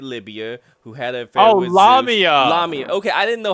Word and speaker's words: Lamia: queen of ancient Libya who had aair with lamia okay I didn't know how to pronounce it l okay okay okay lamia got